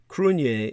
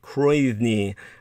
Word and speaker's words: Cruithne: Just for people who don't know, Crunier is spelled Cruithne. You would think it was pronounced Croithne or Croithne, but no, it's Celtic, and because it's ancient Irish language, Gaelic, ancient Gaelic, pre-Gaelic, really, Celtic, nobody can pronounce it.